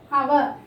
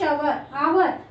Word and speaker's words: hour: Yan is also used before a word starts with H, where the H is silent. Suppose dash hour. Here if you see dash hour, H is silent.